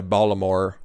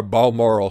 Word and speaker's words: Balmoral: she didn't fly to Baltimore or Balmoral sorry I mispronounced that yesterday I was I